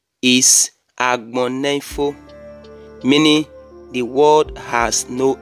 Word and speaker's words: Agbonifo: The correct pronunciation of this name is Agbonifo, meaning the word has no end.